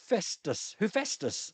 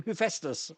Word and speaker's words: Hephaestus: Hephaestus. That's how you pronounce that name. Hephaestus.